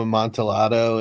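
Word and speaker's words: Amontillado: monato whatever a mon it's Spanish the Double L is pronounced as a y oh my God leave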